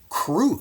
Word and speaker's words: Krush: The name crush, by the way, I've heard is actually pronounced Kru. So, Ireina Kru. But if you're a chess player and your name is spelled this way, you're going to want to go with the crush version every single time for sure.